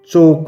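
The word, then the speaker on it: chalk: ऐसे ही रॉन्ग में डब्ल्यू चोक में एल ओफन में टी नो में के इसी तरह हमें आगे भी इन सभी वर्ड के नीचे अंडरलाइन करते रहना है।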